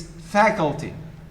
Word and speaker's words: faculty: colleagues saying faculty faculty it's faculty so this first level is stressed it's fair not for